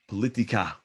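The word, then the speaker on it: פוליטיקה: The answer is politika.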